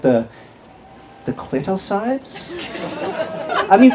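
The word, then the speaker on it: Clitocybe: It's a species of mushrooms called the clitosides. I mean, some people trying to pronounce it as a clitosibe, but either way, it's got the word clit in it.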